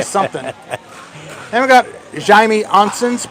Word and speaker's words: Oncins: Oncins and Milner. No, I was going to do color commentary, but they got somebody. Is it pronounced Oncin? Oncins. Oncin and Milner.